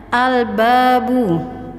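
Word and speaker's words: الباب: Selanjutnya al-babu. Kita rasakan alnya kita sukunkan dan kita baca jelas.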